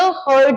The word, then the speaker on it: heard: हियर, HEAR, इसका second form होता है HEARD, जिसको बहुत लोग हियर कर देते हैं। अब प्लीज इसका ध्यान रखिए, हियर, हर्ड, हर्ड।